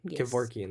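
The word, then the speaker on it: Kevorkian: Kavorvian, that's how you say it.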